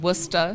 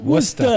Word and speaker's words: Worcester: Maybe I'm pronouncing it wrong. Worcester. Worcester. Yeah. Worcester. It's where With Worcester. the, Yeah. You got to go up at the end.